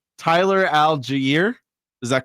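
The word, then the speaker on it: Allgeier: uh the Philadelphia I always pronounce this guy's name wrong Tyler alier is that correct oh you were so close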